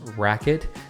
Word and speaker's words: RQT: paddle is literally called the rqt which is pronounced racket this paddle got its name rightfully so with